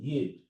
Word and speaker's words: Yid: Yid is letter Y. This letter is like the letter Y. It makes the same sound. Yid.